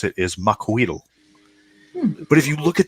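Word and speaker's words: Macuahuitl: Now, when you look at the name and the way it's written, you're like Maxawatsi, and then there's a big long L sound at the end.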